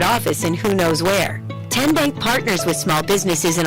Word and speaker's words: TN Bank: Tin Bank? Uh-uh. So, what is it? Ten Bank. Ten as in Tennessee.